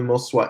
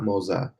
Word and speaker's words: Moza: Scott is asking, do I have the Moswa Air? And yes, it is pronounced Moswa, not Moza. Moswa Air, that's how you pronounce it.